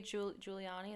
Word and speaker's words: Giuliani: said but it included a clip of rudy giuliani that's how you pronounce his name dressed up as a woman